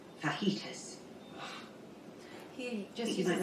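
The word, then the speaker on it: fajitas: my friend is cooking FAS FAS and it's it's pronounced fitus he just might say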